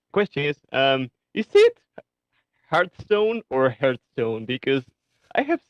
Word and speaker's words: Hearthstone: to answer your question the correct way to say it and I run into this problem all the time it's hearth stone I think the problem